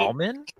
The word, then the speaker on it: almond: almond or almond? Why? What do you say? Almond? Almond? What did Almond? I say? are you supposed to say it with a silent L? It's like salmon, But salmon.